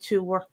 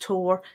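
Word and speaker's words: tabhair: I would pronounce it tuor. It can also be pronounced tor.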